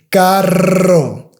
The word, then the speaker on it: carro: So, and carro, carro, carro, carro, perro, perro, perro, perro.